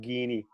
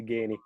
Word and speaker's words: Geaney: III would have pronounced it as ice as it's spelt I feel I always get called Guinea and I'm actually gaining a colleague of mine in our in here